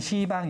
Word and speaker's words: 시방: 이걸 한마디로 표현할 때 뭐라 그러냐면 시방 이럽니다. 발음을 잘 하셔야 돼요. 시방. 원래는 십방인데 십방 그러면 발음이 더 이상하잖아요. 조금 더 어렵네요. 그래가지고 십자 이거 뺀 거예요.